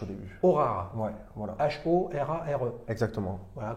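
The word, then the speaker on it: Horare: Aurare, avec un H au début. Aurare. Ouais, voilà. H-O-R-A-R-E. Exactement. Voilà, comme ça se prononce, les amis.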